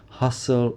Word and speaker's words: hustle: and bustle remember class we have these silent T sounds in both of these words hustle and bustle the bustle of the